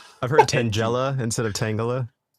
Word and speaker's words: Tangela: cuz I legitimately kept forgetting like what the pronunciation was. Oh, okay. Tang Tangala. Tangela. Tanga. It's Tangala, right?